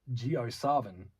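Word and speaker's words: JioSaavn: artists geosaren artist one geosarvan previously known as sarvin and pronounced geosarvan was founded in 2007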